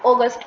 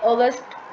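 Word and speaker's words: Auguste: आ जाओ आगे हमारे ऑगस्ट काउंट। ठीक है? ऑगस्ट बोलते हैं। कोई ऑगस्टे बोलते हैं। कुछ बोलता है। अपनी-अपनी प्रोनाउंसिएशन है।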